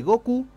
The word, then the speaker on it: Goku: por las coincidencias entre la pronunciación del nombre Goku y los números c y nu en japonés Ah Es Go y q Ah claro Mira bu